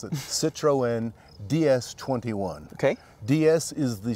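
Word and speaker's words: Citroën: around the Citron DS or do you say Citroen we'll talk to the owner behind this car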